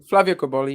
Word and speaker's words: Cobolli: Flavio Cobolli.